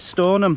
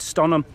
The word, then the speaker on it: Stonham: saying it right yesterday you said stoner i said stun them yeah i think that's just probably the way i've always said it it's storm it's stunning so you've said it right i got it right